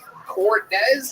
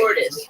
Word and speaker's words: Cordis: Cortez, am I saying that right? Cordis, the white version. I love it. I'll never say it wrong again.